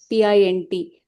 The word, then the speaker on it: pint: So if you have words like mint, tint, and then you have pint, P-I-N-T, so which is pronounced pint, because in English is